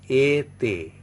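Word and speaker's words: été: Pronunciation is e te, e te. That means when this accent is used on E, that is, it becomes, E becomes A, pronounced like A.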